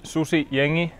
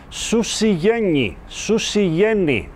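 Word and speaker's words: Susijengi: Susi jengi. Susi jengi. That is how the nickname of the Finnish national basketball team is pronounced correctly, as Rupahonen told me.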